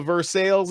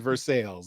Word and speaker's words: Versailles: We also pronounce it Versailles. It's the English pronunciation. Versailles is the French pronunciation. Think of it like the name Jesus, spelled the exact same way the Spanish pronunciation is Jesus. Different language, different pronunciation rules. Versailles is correct in English.